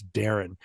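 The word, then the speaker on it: Derren: That and and Darren is spelled D E R R E N. So, even when you read it, you don't remember that it's Darren.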